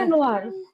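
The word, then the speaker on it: Januar: এটা কিন্তু ওয়া এর মতো উচ্চারণ করে। তো ঠিক আছে? ইয়ানোয়ার।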